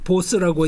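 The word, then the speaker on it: Bose: 아, 저 이름이 인도 이름이고 벵갈 이름이고 보스라고 읽는 게 맞다.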